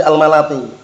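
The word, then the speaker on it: الملطي: Ishaq bin Najih al-Malati, bacanya bukan al-Multi tapi al-Malati.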